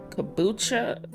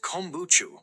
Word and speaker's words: kombucha: It's not my shirt, but how about uh kabucha? What? What the fuck is that? Okay, Google. How to say this word? K O M B U C H A. It's pronounced kombuchu.